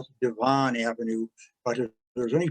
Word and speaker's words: Devon: And Devon Avenue, in Pennsylvania, they know how to pronounce it correctly. In Chicago, we call it Devon Avenue, but if there's any possible way to